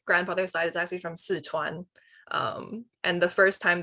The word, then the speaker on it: Sichuan: was like what's a szechuan and then it turns out it's like that's how they pronounce sichuan in american and i was like